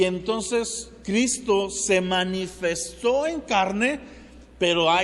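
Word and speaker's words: Χριστός: ahí atrás de mí vas a ver el nombre de Cristo primero en griego como se escribe en griego y después como se pronuncia que es cristos ahora si tú eres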